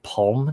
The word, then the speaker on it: palm: They don't emphasize the L. It's like saying salmon.